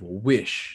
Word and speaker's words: WYSH: the founder and storyteller of wish now which is spelled as w-y-s-h what exactly is w-i-s-h